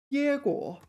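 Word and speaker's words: 结果: Number 7, also a verb, 结果. So, yeah, so there's 2 pronunciations for this. This is the first tone one.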